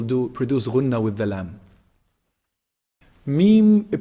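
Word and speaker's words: ميم: when you combine both lips together when they close up this is meme and there's some nasal sound also coming from the nose meme noon noon is actually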